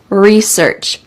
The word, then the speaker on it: research: big project research research notice that this is the American English pronunciation we emphasize re and don't emphasize search research I never buy something